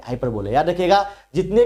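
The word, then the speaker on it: hyperbole: Endless fountain, कभी ना खत्म वाला फाउंटेन से बोलते हैं हाइपरबोल, लेकिन मैं से बोलता हूँ हाइपरबोले, प्रोनाउंसिएशन है बोल, लेकिन मैं बोलूंगा क्या हाइपरबोले।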